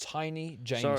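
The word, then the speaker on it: Taini Jamison: game of the season, and I believe it's pronounced Tiny Jameson. So I thought it was Tammy for some reason, but no, it's the Tiny Jameson series.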